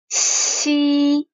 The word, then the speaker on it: Xi: those two, because Xi, when you pronounce Xi, your tongue does not touch your mouth roof, does not touch your mouth roof, and you leave a like very thin space for the air to blow.